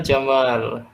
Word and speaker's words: Jamal: nama Jamal Indo Hai tapi harus panjang bacanya Jamal ya jammal itu baru Indah kalau Jamal Jawa entah